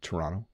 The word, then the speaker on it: Toronto: Big um so that was a more proper pronunciation there Toronto um it probably all sounds the same to